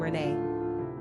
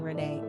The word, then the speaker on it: René: We often hear about how the masculine René is pronounced just like the feminine Renée, and is therefore often mistaken as a girl's name.